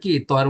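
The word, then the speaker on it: 꽃: লাস্টে যদি দেখেন তখন এটা কি তয়ের মতো উচ্চারিত হবে, ত।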